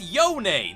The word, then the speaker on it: Yone: can first of all they pronounce it yone naughty own that's an you want